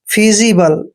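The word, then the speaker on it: feasible: एल ई देखिए दोस्तों यहां पर एफ का उच्चारण हमने फ करना है और ई ए का ई ए का उच्चारण हमने ई की मात्रा करना है और जब भी एस से पहले ए आता है और एस के बाद आई आता है तो एस का उच्चारण ज करते हैं और आई को ई की मात्रा पढ़ेंगे बी का उच्चारण हमने ब करना है और एल ई को ल पढ़ते हैं फीजिबल दोस्तों फीजिबल मींस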